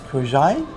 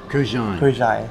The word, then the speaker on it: Kurkdjian: Is it Kurkdjian? I've heard so many different breeds. Maison Francis Kurkdjian. Kurkdjian.